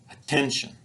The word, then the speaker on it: attention: they're spoken more quickly so rather than get the word at ten-shun we say attention attention the unstressed syllables